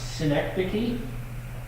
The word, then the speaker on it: synecdoche: Uh, synecdoche, if you were wondering how to pronounce that, that's how you pronounce it.